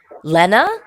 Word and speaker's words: Lena: song all right and I am talking to Lena am I saying pronouncing it correctly absolutely absolutely or Lena Lena